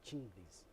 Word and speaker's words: Chinglies: Yes, Chinglies. Like Ching. Lizzie. Elizabeth, Lizzie. Chinglies. Yes, Ching, Lizzie.